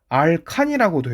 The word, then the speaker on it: 알칸: 알케인이라고 하고, 또는 알칸이라고도 해요. 이게 지금 나라마다 명칭이 그 발음이 달라서 그렇게 나오는 현상인데, 일단 알케인이나 알칸이라고 나오고, 그 화학식을 쓰면 이렇게 됩니다.